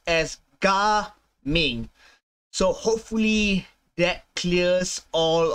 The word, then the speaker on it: Gaming: the official English pronunciation of um Jing's name jaming is the Chinese pronunciation by the way so it's pron is pronounced as G Ming so hopefully that clears all of um all